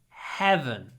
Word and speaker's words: heaven: you believe in heaven when you say this word open your mouth smile heaven heaven you can stretch the Hut a little bit heaven heaven so it's